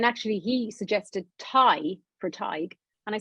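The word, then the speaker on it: Tadhg: So it's Aoife and Tag, almost? Tig. Yeah, Tig. So it's like Tig. Yeah, Tig, you're close. Yeah. So Tig, Aoife and Tig. Tig is like pronounced like tiger without the R.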